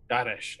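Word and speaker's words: Dhaaresh: Daharesh is spelled B-A-R-E-S-H. Oh, it's a Da, so D-H-A-A-R-E-S-E. Daharesh, all right.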